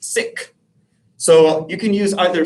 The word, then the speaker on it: Sikh: me use this word seek and that's a common english pronunciation of the term but in the punjabi language it's actually pronounced sikh so you can use